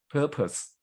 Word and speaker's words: purpose: the middle and what purpose is a noun purpose we stress at the first syllable purpose which is not